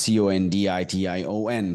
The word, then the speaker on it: condition: not ba banana banana banana let's look at c o n d i t i o n condition condition not condition I have a condition